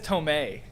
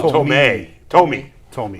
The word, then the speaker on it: Thome: What were you calling him? Jim Thome. He says Tomei. Oh, Thome.